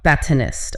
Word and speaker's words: batonist: It's not DT'd honest. Okay. The stress is on the second syllable. Batonist comes from the French word for the stick, the baton. Batonist.